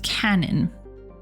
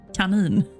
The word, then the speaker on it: Kanin: I assume that this is going to be pronounced cannon. However, this is a Swedish word meaning rabbit. Kanin.